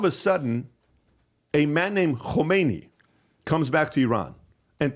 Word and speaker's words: Khomeini: It's Khomeini, okay? And it's very easy name to pronounce, right? Khomeini. Like when you pronounce it, you have a sore throat afterwards.